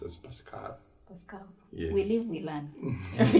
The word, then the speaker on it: Pascal: pascal most people say pascal by supposed to be pascal yes because it is a french name when you say pascal